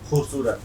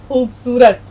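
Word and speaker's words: خوبصورت: खूबसूरत।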